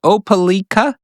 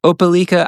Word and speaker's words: Opelika: he was very kind and put the phonetic pronunciation. Opelika. I hope I said that right. Opelika.